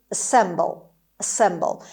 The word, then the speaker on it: assemble: But this word in English is assemble. ای اولش به شکل شوا تلفظ میشه، یه ای کوتاه تلفظ میشه. Stress is on S.